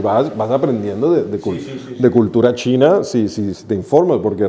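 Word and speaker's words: Qing: de hecho el King el nombre de King que es uno de los que sale es en chino se pronuncia chin Y es de donde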